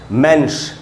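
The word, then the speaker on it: Mensch: मैंने यहां पर और इसका उच्चारण है मेंस श है एंड में स और ह से श का साउंड बन रहा है तो मेंस इसका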